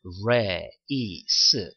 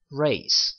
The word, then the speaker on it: race: 그래서 R 같은 경우에는 이게 리을 소리가 나긴 하지만 르하고 에 소리가 합쳐졌어요. 그래서 race, 그래서 강세가 re 있으니까 race 이렇게 강세를 주셔서 발음을 하시면 되고요.